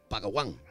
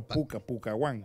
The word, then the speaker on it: Pucaguán: Las distintas tribus utilizan nombres como Kulawine, Kualawon, Carbor o Pacaguán. Pacaguán, no, Pucaguán.